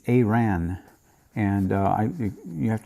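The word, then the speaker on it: Arawn: this anomaly uh 15810 uh Iran it's not Iran it's aan and uh I you have to excuse me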